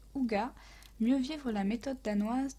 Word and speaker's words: hygge: d'un livre qui est le livre de ig prononcé aux gars mieux vivre la méthode